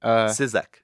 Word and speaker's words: Cizek: right yeah yeah okay it's definitely not the easiest to sound out so syczyk syczyk is the way you say it okay I've gotten all